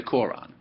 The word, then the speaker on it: Quran: You can't even pronounce my book. So say the Quran. Q-U-R'-A-N, not K-O-R-A-N.